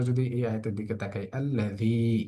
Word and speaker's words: الذي: আমরা যদি এই আয়াতের দিকে তাকাই, আল্লাযী, এখানে এসে একালিক পরিমাণ টান হচ্ছে দি শব্দটার মধ্যে।